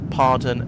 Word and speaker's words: pardon: And use pardon as sorry, but again different emphasis.